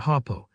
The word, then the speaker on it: Harpo: The way I pronounce my name, it comes out hapo.